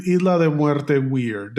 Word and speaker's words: Muerte: They do say Isla de Muerte weird. I think they say muerta female, but should be male muerte, but it's fine.